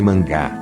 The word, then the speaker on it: manga: tem obviamente outros significados em japonês por exemplo manga pronuncia-se mangá é revista em quadrinhos